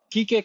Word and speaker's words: Quique: Um, so yeah, I um Kik. Kik. It's like Yeah. Kik like Enrique but Kik.